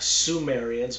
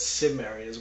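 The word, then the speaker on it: Cimmerians: Uh not Sumerians but Sumerians with a C.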